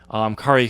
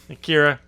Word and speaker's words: Kiera: I do like how you pronounced her name 3 different ways. Yeah. It's Kiera. Kara.